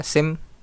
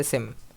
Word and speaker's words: SIEM: सो जिसे एसआईएम नहीं पता एसआईएम को हम लोग सिम भी बोलते हैं। We pronounce it एज अ सिम।